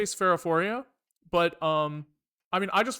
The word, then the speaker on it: Sphaerophoria: How do I pronounce my name? I say Spherophoria, but I mean, I